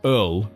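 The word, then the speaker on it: öl: craft beer place called Earl. EARL? Well, my Scandinavian friends will pronounce it correctly. I believe that's how it's pronounced.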